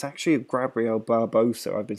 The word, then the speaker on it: Gabriel Barbosa: It's actually Gabriel Barbosa. I've been saying his name wrong the whole time.